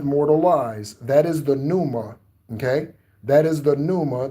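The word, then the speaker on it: pneuma: That is the numa. Okay? That is the numa. That is spelled p neu m a.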